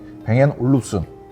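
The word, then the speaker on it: Bang & Olufsen: 뱅앤 올룹슨. 발음도 어려워요.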